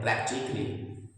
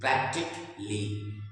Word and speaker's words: practically: तो हमने देखा कि हमारे जो वर्ड है प्रैक्टिकली, इस शब्द के लास्ट का जो लेटर है एल एल वाई, इसके ठीक पहले ए है, लेकिन हम इस ए को रीड नहीं करेंगे। The word is प्रैक्टिकली, प्रैक्टिकली, यहाँ पर ए का